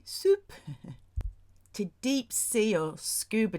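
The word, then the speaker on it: SUP: Even say soup, S-U-P, S-U-P, soup.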